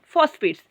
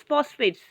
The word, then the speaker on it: phosphates: Some of the common fertilizers are urea, nitrates and phosphates. PHOS, PHATS, phosphates. How to pronounce? Fast sound should come out, children. Phosphates. Got it?